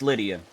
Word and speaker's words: Lydia: It's Lydia.